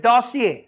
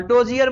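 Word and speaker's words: dossier: डोसियर को पढ़ते हैं डोसिए, क्या इसका प्रोनाउंसिएशन? डोसिए, बोलो। हाँ, डोजियर मत पढ़िएगा।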